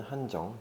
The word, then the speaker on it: 한정: 근데 한정 같은 경우는 한정 그대로 읽는 것 같아요. 이 한글로 발음도 한정이거든요. 그래서 이 발음은 또 한국이랑 동일한 것 같네요.